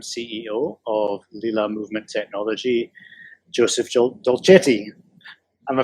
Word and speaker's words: Dolcetti: of LILA Movementechnology, Joseph Dolcetti. Am I pronouncing that right? Yes. If you're Italian, you're pronouncing it right.